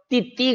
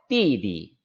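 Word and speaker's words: 弟弟: 뒤에 글자는 경성으로 잃는다 그래서 띠 띠 가 아니에요 띠 이라고 발음하는 거에요 deb 남동생이 줘 끄덕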